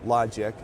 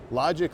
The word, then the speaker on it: LodgIQ: So being the CEO of LodgIQ, L-O-D, then I-Q, LodgIQ, if I'm pronouncing it.